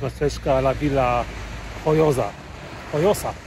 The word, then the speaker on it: Joiosa: Joyosa, o, tak się wymawia, Joyosa.